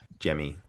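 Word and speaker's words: Gemmy: Um is it Jimmy or G, do you think? I I I was Well, the audio book said Jimmy, so Okay. Yeah. Yeah. Is it spelled with a G?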